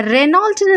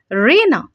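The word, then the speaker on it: Renault: And next one பாருங்க, இதை ரெனால்ட்னு நம்ம ப்ரொனவுன்ஸ் பண்ணிட்டு இருந்தோம்னா இனிமே ரேனா அப்படின்னு ப்ரொனவுன்ஸ் பண்ணுங்க. ரேனா.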